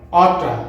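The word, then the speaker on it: oughta: যেমন ওয়ানা, গনা, গটা, অটা এবং গচা।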